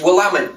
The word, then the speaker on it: Willamette: how to pronounce it they'll say it's willamette dammit so it's the willamette